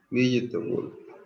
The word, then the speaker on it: vegetable: Notice that the unstressed vowels are not pronounced.